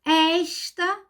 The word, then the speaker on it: esta: ela é muito bonita esta ó o pronome também feminino a pronúncia aberta esta menina é muito